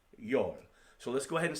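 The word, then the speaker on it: 열: And then 10 is yol, and that's pronounced yol.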